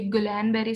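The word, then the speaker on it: Guillain-Barré: इसको बहुत ज्यादा लोग कोई गुलैन बेरी सिंड्रोम कहते हैं, कोई गिलन बेरी सिंड्रोम कहते हैं, सबकी अपनी अपनी प्रोनाउंसिएशन है।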